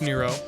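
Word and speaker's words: Nrvnqsr: I know it's spelled near nervin kisser is pronounced Nero 11 is strand rove something 13 says Tatari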